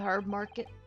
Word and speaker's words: herb: The pull of the herb market. Sorry, the Britons, the British pronounce the H.